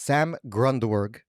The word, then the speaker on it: Sam Grundwerg: Today we have a very special guest, Sam Grundwerg.